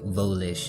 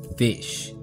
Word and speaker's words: Volish: is true to have a Regal name like volish mispronounced and misspelled as fish and suddenly an entire